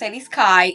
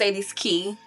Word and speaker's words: Cedes Ki: Instagram is s key it's not s Kai It's s key that's how you pronounce my name s key am man